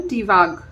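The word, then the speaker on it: Tiwaz: ही auspicious और prosperous time को बताता है ये रून। इस रून का नाम बोलते हैं हम टीवाग, टीवाग बोलते हैं, या टी भी बोल सकते हैं इसको प्रोनाउंस करने के लिए, टी।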